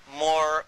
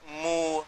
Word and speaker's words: Moor: What connects it up is even the word Moor, because it's pronounced differently in different parts of Africa. And they call themselves Moor, Mu, Mur.